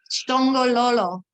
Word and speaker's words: shongololo: Shongololo. Shongololo.